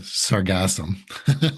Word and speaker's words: sargassum: So first of all, it's called sargassum. Okay. Like sarcasm, which is kind of ironic.